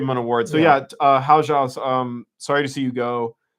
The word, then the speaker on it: Hao Zhao: How Rao? Yeah, well, they apparently pronounced Hao Zhao. Hao Zhao.